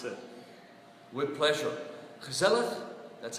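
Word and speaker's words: gezellig: way for canadians to pronounce it with pleasure gazelleth that's how we pronounce it means something like cozy it's a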